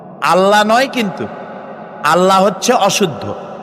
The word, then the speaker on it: আল্লাহ: বলেন তো আল্লাহ নয়।